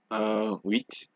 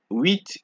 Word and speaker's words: huit: However, there are a few exceptions, just a few, such as sud, cap, slip, fils, bus, brut, ouest, huit.